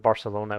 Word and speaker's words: Barcelona: or some of the sounds so instead of Barcelona would be Barcelona with the the sound which